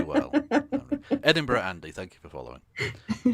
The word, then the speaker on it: Edinburgh: thank you to uh i'm going to mispronounce it as edenberg and because i know scottish people take that very well edinburgh andy thank you for